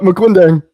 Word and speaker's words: Maquindang: Is that how you pronounce it? Very close, Dr. Scott. Maquindang. Maquindang.